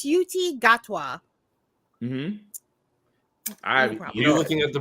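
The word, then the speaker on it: Ncuti Gatwa: no it's okay um it's it's it's it's suti gatwa you looking at the pronunciation this entire time I have inner group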